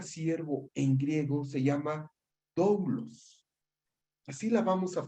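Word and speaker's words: δοῦλος: Y quiero decirles que la palabra siervo en griego se llama doulos. Así la vamos a pronunciar, mis hermanos.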